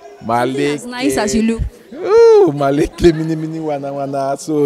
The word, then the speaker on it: Maleke: We used to call him Malik. You know, yeah. So because we didn't know that the actual pronunciation was Maleke, you know, so the